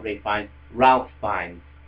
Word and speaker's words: Ralph: with Voldemort, played by Ray Fiennes. Alright, no, not Ray Fiennes, Ralph Fiennes. It's spelt Ralph, but people keep saying Ray. It's Ralph Fiennes. If it was Ray Fiennes, it would be R-A-Y.